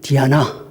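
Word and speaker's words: Diana: 신인 아폴로와 쌍둥이로 태어났습니다 로마식 이름은 디아나 그래도 감히 잘 안 잡히시죠 영어로 발음하면 뭐가 되죠 다이애나입니다 순결과 정절의 상징이자 젖가슴을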